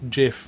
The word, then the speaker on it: GIF: many people angry that the guy who came up with it just went oh yeah it's supposed to be pronounced jiff like what do you